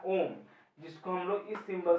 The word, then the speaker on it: ohm: जैसे कि कोई गोला बना दो, इसको मिटा दो, दो लाइन ऐसे कर दे, या फिर सी, ठीक है, प्रोनाउंसिएशन OHM, ओम।